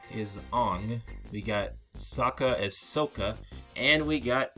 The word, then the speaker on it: Sokka: Sokka, don't. I'm sorry, what? How did you say his name again? Sokka, don't.